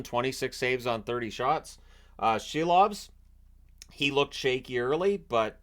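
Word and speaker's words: Silovs: And I've always pronounced it Seelovs, but since Shorthouse was saying Shelovs, I'm trying my best to adapt and make that change because the Canucks announcer likely has that right.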